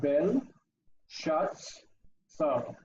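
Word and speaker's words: בלשאצר: don't consider the aleph. Ignore the aleph. The aleph is there to represent the ah sound, but it doesn't have its own value. Okay. And the same as with the next one, where we have bel, shuts, saw. Bel, shuts, saw. And the saw is the final, this is the accent from the end. 3 syllables, all 3 of them closed.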